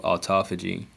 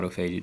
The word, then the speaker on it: autophagy: And so when you fast, you trigger what's called autophagy or autophagy, depending how you want to pronounce it.